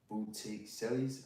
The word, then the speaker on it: Botticelli: And Botticelli's. I don't know how to pronounce that name.